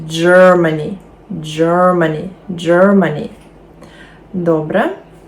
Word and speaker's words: Germany: в нас два три складові наголос на перше Germany Germany Germany добре а